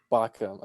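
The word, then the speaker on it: Baucham: I always Vodi, pronounce it yeah, Vodi Bach, Bakum. Bacham.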